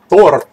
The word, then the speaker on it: Thord: It's supposed to sound like a dwarf saying it. You know how a dwarf adds an R sound to everything he says? Well, that's how you say his name. Thord.